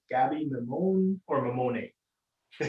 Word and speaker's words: Mammone: Gaby Mammone or Mammone? Oh, not bad, not bad. So it depends if you want to use your hands and sound Italian. Okay. So it's mammone.